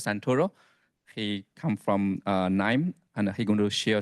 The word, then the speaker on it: KNIME: a data scientist at n uh it's pronounced n so K is silent um our company is